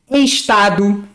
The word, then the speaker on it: estado: Então, por exemplo, tem lugares que as pessoas falam entender, estado, mas aqui no Rio a gente fala entender. Estado é como se a palavra fosse escrita com I, né?